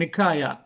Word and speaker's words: Nikaia: வந்து நிக்காயா என்று, அதாவது கிரேக்க மொழியில் நிக்காயா NIKAIA என்று ப்ரொனவுன்ஸ் பண்ணி எழுதி வைத்திருக்கிறார்கள்.